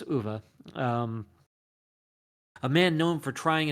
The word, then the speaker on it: Uwe: I've heard it pronounced Uwe Boll and such, but I guess it's Uwe.